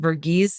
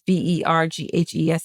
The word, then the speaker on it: Verghese: I remember mispronouncing it, Verghese. It's Verghese.